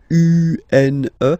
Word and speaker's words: une: Then the feminine article is here, and it's easier because if you have this U-N-E, then you pronounce it une, une.